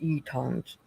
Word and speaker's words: Utahns: Yeah, Utahns. That's how you pronounce it, Utahns.